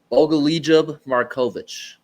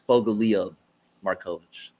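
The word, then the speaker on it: Bogoljub Marković: Oh, no. I pronounced the J. It's Bogal Marovic. There, that's it. Oh, the J is silent.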